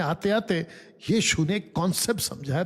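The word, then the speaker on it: Pnyx: ये देखिए इसको कहते नेक्स हिल पी एन वाई x next हिल पी साइलेंट है।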